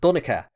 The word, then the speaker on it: Donnchad: Over time, a H was added at the end, changing the pronunciation to Donnchad, a name still common in Ireland today, and the pronunciation which I tend to use in my videos.